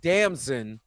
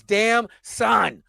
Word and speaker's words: Damson: I think Aldis Hodge and Desmond Ildris is Damson Ildris, because somebody can be like, it's damn son in the comments.